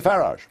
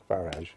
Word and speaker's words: Farage: how to pronounce it I say farage farage yeah as I as I would say garage very well but thank